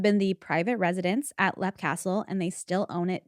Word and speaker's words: Leap Castle: So that is Lep Castle, not to be confused with Leap Castle, because that's not how you say it.